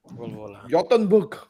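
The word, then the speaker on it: Göteborg: I think there's a Volvo yachtenberg oh yeah Gothenburg the pronunciation for Swedish people is doing well Bobo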